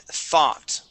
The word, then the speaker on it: thought: And thought. Okay, so we want to pronounce an ah sound here with the O-U-G-H. Thought. Try that. Yeah.